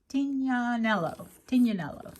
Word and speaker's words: Tignanello: And if you even search Tignanello, is it Tignanello? Tignanello, that's how you say it.